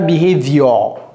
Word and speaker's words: behavior: Ce n'est pas behavior. Ce n'est pas your. C'est year. Behavior.